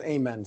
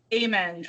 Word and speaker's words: Ayan: It's spelled Ayan, but it's pronounced Amyan, so. Amyan.